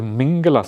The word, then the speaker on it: mangala: Dear Ajan, could you please teach us the mangala suta? The mingala suta mingala I think is the Burmese trans the Burmese pronunciation of mangala mangala suta one day